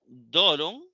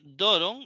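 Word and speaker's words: δῶρον: Esto, doron. Note doron, estamos hablando de la penúltima sílaba, doron.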